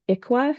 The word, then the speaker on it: ICWA: The other one that um will come up often is IQUA is how we pronounce um the ICWA and that refers to the Indian Child Welfare Act.